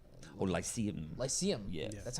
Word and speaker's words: Lyceum: Lyceum. Yeah. Yeah. That's how it's Yeah, yeah, pronounced.